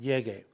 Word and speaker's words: llegue: Llego becomes llegue, but it's got to be G-U-E to maintain the hard G sound, llegue.